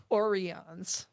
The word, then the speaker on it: Orion: Though Question- technically they are Orions. Orions. Yeah. It's pronounced Orion.